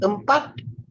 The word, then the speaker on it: empat: Okay, now, empat, pronounce the T as well.